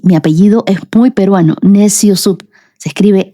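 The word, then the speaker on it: Neciosup: Y sí, mi apellido es muy peruano, Neciosub. Se escribe N e C i O s U p.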